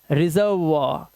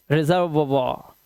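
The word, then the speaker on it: reservoir: आया तो ओ आई का उच्चारण क्या हो जाता है, वाह हो जाता है, तो इसे पढ़ेंगे रिजर्वॉर। क्या पढ़ेंगे, रिजर्वॉर।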